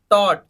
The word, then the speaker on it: taught: अगला देखिए sixth टॉट, TAUGHT, GH silent कर दिया तो TAUT क्या बना, टॉट बना।